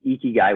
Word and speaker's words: ikigai: to sign up for the eki challenge is ikigai which is spelled i-k-i-g-a-i so ikigai dot everyday and that's